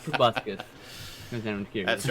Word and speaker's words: proboscis: Proboscis. All right. Yep. Check that one out. too. Proboscis. Proboscis. Proboscis. It's an O, not a U.